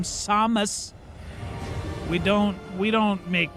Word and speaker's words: Samus: You're you're a you're an upscale patrician bounty hunter, hence the pronunciation of your name, Samus.